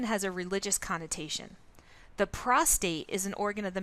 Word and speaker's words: prostate: the body to another the term prostate is frequently mispronounced as prostrate with an extra are added prostrate is a position